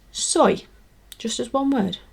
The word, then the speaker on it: soy: it is soy so now literally pronounced as soy sauce or soy milk soy s-o-y and it's a wonderful